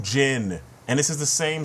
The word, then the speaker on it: Jin: and water same thing but jean and Jin come on dude the game even has his name um pronounced the right way the Japanese version of the movie has his name pronounced the right way and they every single character said his name wrong moku jein it's moku Jin and this is the